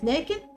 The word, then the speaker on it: لكن: استخدامها غلط وكتبتها غلط كلمه لكن ما حدش يكتبها بالطريقه دياني لازم نكتبها بالشكل ده لان هي فيها حرف الالف ينطق ولا يكتب وكمان عندنا للوطن افضل